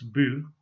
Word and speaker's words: by: Its generic element, the by ending, which I'll pronounce bu, has the same force as tun in Brafferton.